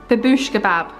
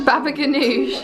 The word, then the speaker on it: baba ganoush: Babouche kebab. Babouche kebab. No, what's it called? Ganoush. The baba ganoush.